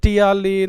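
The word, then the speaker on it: ptyalin: है जिसको हम जनरली टियालिन के नाम से भी जानते हैं। पील साइलेंट है इसमें।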